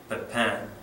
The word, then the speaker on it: Pepin: the Frankish kingdom of, it looks like Pepin, it's pronounced Pepin, Pepin the Short, he was called Pepin